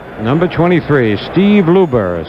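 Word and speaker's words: Luebber: number 23 out there number 23 Steve Luber 6 3 195 pounds he's the third Minnesota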